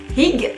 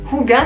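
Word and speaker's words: hygge: de caroline francs mission ring ou kuga si on veut le prononcer correctement j'adore cette couverture parce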